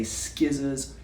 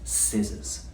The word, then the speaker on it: scissors: And again, like with island, there is a silent letter. The C we don't pronounce. We don't say skizzers, it's scissors.